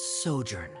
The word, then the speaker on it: sojourn: tell this story together foreign how to pronounce this word let me see Ah that's sojourn it means to stay for a while this